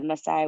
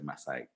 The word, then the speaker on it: Maasai: know um okay so does it mean that you share the messiah with kenya did i pronounce that correctly yeah i was meant to talk about the messiah of tanzania but yes in kenya we have also the maasai all right there we